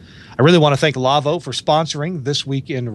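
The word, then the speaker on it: Lawo: to go to the lavo website l-a-w-o it's german name it's it's pronounced lavo but it's l-a-w-o and go um go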